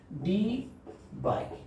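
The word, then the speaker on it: Debye: SI unit of electric dipole moment is डी बाई, क्या बोलते हैं इसको, डी बाई। अलग अलग स्पेलिंग होता है, अलग अलग प्रोनाउंसिएशन भी होते हैं, बट याद रखें ये डी बाई होता है।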